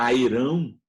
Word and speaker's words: Heron: A lei de Heron, ou lei de Heron, se você preferir, tem gente que chama Airão, né, até numa pronúncia mais popular, é quando você tem um triângulo qualquer e você conhece os 3 lados desse triângulo.